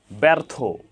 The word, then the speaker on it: ব্যর্থ: ফলা যুক্ত হওয়ার কারণে ব্যর্থ এখানে ব্যা ব এর সাথে জ ফলা সংযুক্ত হওয়ার কারণে এখানে একারন্ত উচ্চারণ হয়েছে এখানে ব এর সাথে